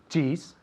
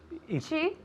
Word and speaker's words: cheese: Cheese. Cheese? Is sold in France. Okay, hold on a second. We don't say cheese. We say cheese.